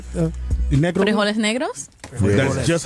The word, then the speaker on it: frijoles negros: Frijoles negros.